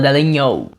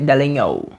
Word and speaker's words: Dallagnol: É muito chique, se escreve Dallagnol, mas se fala Dallagnol, como se tivesse um NHOL, Dallagnol.